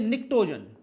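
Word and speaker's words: pnictogen: जो ग्रुप 15 है इसे बोलते हैं निक्टोन इसमें ध्यान रखना पी साइलेंट रहता है फिर हमारा ग्रुप फो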